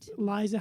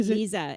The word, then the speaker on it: Liisa: HSE TV that's right Liza how do you pronounce her last name because yes and it's actually liisa it looks like Liza but it's liisa my apologies that's okay